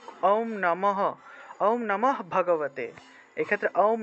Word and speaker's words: নমঃ: বিসর্গ এর ব্যবহার অর্থাৎ শব্দ বা বাক্যের মাঝখানে থাকলে বিসর্গ এর উচ্চারণটা অর্ধরূপে হয় অর্থাৎ এভাবে নমঃ নমঃ উচ্চারণটা হলো নমহ বলা যাবে না নমহ বললে তো